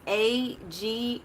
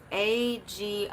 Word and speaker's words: Agrimony: It is A-G-R-I-M-O-N-Y. Agrimony, I think, is how you pronounce it.